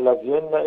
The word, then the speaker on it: لافينا: النادي اسمه لافيينا اف سي. جات لك الفكره ودي منين؟ ودي اشاره لمدينه فيينا بس بالاسباني، هي النطق بالاسباني.